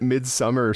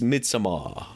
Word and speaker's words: Midsommar: used to it cuz I've been calling it Midsummer since I saw it but but it's totally right that is how it's pronounced but it's midamar yeah you got to add the midamar what I think of